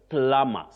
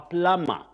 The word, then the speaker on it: plumber: And you also say plumber. So and so is a plumber. But locally we confidently some punch say I am a plumber. Please avoid that in English. Especially if you are in a career of serious communication. Don't talk of plumber and don't call yourself a plumber. That does not exist in English.